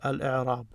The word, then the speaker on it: الإعراب: So you don't say al-a or al-i, al-u, you say al-i. So he's telling you how it's pronounced correctly. Al-i'rab.